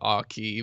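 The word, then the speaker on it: Aukey: i i pronounce it aki but anyway it's gold key right so however you would pronounce like the a u the ah and then key i don't know it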